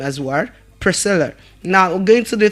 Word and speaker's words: Priscilla: It is pronounced as what? Priscilla. Priscilla. Can we all say Priscilla again? Priscilla and not Priscilia. The name is not Priscilia but what? Priscilla.